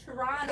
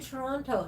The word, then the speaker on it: Toronto: It's supposed to be Toronto, not Toronto. Yeah, but people from Toronto only say Toronto. Toronto. You don't pronounce the second T.